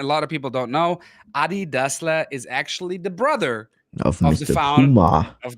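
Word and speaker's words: Adi Dassler: apart and a lot of people don't know ADI dla is actually the brother of the of the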